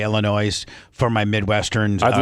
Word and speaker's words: Illinois: French word and the the s is silent, but I just say Illinois for my Midwestern.